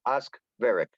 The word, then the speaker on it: Oskvarek: It's pronounced Oskvarek. Oskvarek, good.